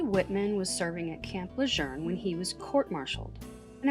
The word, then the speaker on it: Lejeune: away in 1942, and over time, people started pronouncing it Camp Lejeune because they couldn't find the R. But it's not a randomly named Marine base. It's someone's name, and his name was pronounced Lejeune.